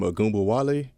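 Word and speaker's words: Ogunbowale: The girl from Notre Dame, Agumba Wale. Yeah.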